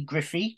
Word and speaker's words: Griffee: very much well um yes my name's Griffey gri double F double e I always have to spell it out because it's quite unusual um and